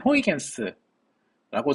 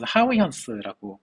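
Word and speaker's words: Huygens: 또 다른 뛰어난 물리학치신 크리스티안 호이겐스라고 저희는 배웠고 요쯤에는 이제 원어 발음을 사서 하위현스라고 하죠.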